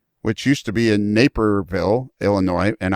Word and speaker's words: Naperville: used to be in naperville illinois and i thought for 20 years it was napierville but that took me 20 years to learn how to pronounce it